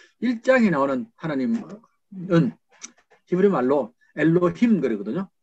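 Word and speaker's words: אֱלֹהִים: 1장에는 하나님, 2장에는 반드시 여호와 하나님이 나오는데 1장에 나오는 하나님은 히브리 말로 엘로힘 그러거든요. 엘로킴 이렇게 발음하기도 하고 엘로힘이고 2장에 나오는 하나님은 하셴입니다.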